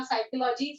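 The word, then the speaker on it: psychology: Social science में आएगा साइकोलॉजी, सोशियोलॉजी। देखो जिधर पी साइलेंट होता है, सबको पता होगा ये, इट इज साइकोलॉजी, सोशियोलॉजी, economics etcetera.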